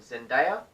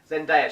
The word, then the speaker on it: Zendaya: There was a song in there between Zac Efron and Zendaya. I said it right. Woo! Go me! Zendaya, she's hot.